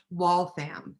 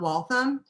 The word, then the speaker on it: Waltham: And it's real important that you know, if you ever go to Waltham, that it is pronounced Waltham and not Waltham, because they will tell you right away, because